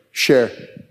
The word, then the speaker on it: Scherer: How do you pronounce it? Share.